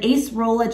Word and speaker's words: acerola: it too and then acerola cherry and ginger juice as well now ace roll i think when i hauled it i said it wrong i had it in